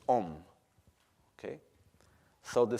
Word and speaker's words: Om: The syllable Om, it is actually made in 3 parts. It's the sound A, U, and Ma. The sound A and U makes O. The sound O with Ma makes Om.